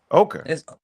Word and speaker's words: ochre: the same result that okra I always pronounced that wrong is that that is that R I think it's right yeah and they paint themselves you know what I'm saying body paint put it on walls and stuff like that that's an important step right there let me see if I'm right pronounce ochre let me say ochre yeah ochre ochre okay okay MH did